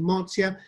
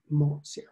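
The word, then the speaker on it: Mozia: um marzia we use I tend to use the Italian word for it pronunciation Marcia but you will see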